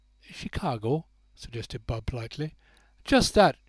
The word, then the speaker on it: Chicago: the way from that Shikagoo." "Chicago," suggested Bud politely. "Just that, Shikagoo." "Chicago, it depends on the way you spell it," said Kate Leslie. "I was brought up to call it Shikagoo."